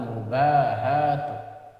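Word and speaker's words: المباهاة: Wal khayla'u wat tanafusu fid dunya wal mubahatu, bacanya 2 kali panjang, wal mubahatu wal mudahanatu wat tazayyunu linnasi wa hubbul madhi bima lam yaf'al.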